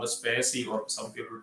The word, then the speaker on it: spaCy: This was introduced by Google, and they have a pre-trained model called SPACY, or some people pronounce it as SPACY.